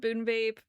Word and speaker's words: BuneBape: So, we have a podcast also called Boon Vape. If you're wondering what it means, it's not a deep meaning. And this sounds crazy. It It rhymes with Runescape.